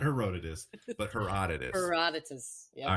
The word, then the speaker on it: Herodotus: Herodotus. Herodotus. Not Herodotus, but Herodotus. Herodotus.